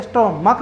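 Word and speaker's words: stomach: For example स्टोमक, तो स्टोमक को स्टोमच नहीं बोलते, स्टोमक बोलते हैं, इसका उच्चारण का होता है इसलिए हम इसमें सिर्फ S लगाते हैं, इसका प्लूरल होता है स्टोमक्स।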